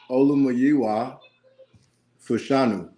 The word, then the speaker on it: Olumayiwa Fashanu: Well, actually, Mark, can you pronounce the whole name for us? Let me see. Fashanu. Wait. Olumayiwa Fashanu.